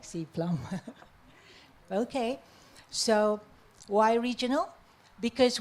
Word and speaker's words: SEA-PLM: Some people like to pronounce it as Cplum. I like Cplum.